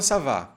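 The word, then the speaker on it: ça va: tenho que fazer o biquinho sav sav com savá que significa como vai eu poderia tirar essa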